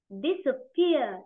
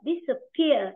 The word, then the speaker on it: disappear: này khác mà đúng không đó từ này đọc là disappear disappear tròng âm rơi vào phia rồi này trò